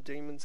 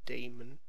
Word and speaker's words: demons: really help getting some demons into play, which, by the way, I think solves the question how I pronounce it, because apparently I'm saying Damon, Matt Damon or something.